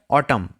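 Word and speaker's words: autumn: এখানে N silent থাকে। উচ্চারণ কি হয়? অটাম।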